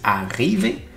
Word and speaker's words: arriver: Nous, on dit arriver. Donc, il y a un R qu'on écrit qui sert absolument à rien parce qu'on ne le dit pas à l'oral.